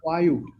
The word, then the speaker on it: VAU: Another thing is that VAU is to be pronounced Vayu.